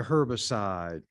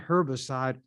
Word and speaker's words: herbicide: ground they developed a herbicide some would pronounce the h when it's with herb sh not herbicide herbicide but however you pronounce it it's still the same